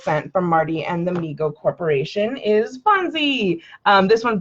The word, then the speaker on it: Mego: response to overwhelming demand MIGO pronounced Mego Corp was started by his father David Abrams in 1954 and named by his younger brother Howard who would say me go to Howard later became